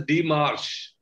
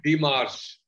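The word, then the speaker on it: démarche: It is pronounced as DEMERCHE. Oh, sir, I was not sure of the pronunciation. That's why I spelled out the word to her, sir. DEMERCHE.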